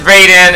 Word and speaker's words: Raiden: And of course, Raiden. I know it's Raiden instead of in a Western term, but in Japanese it's pronounced Raiden. So just bear with me, okay?